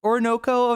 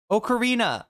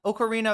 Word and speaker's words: Ocarina: Uh the the Zelda she was playing the um Orico or Chad, I can never pronounce this one. Orunnino of time. Is that how it said? Ocarina. Ocarina of time.